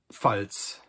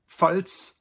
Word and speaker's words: Pfalz: So the first one is die Pfalz. And Pfalz in English means Palatinate.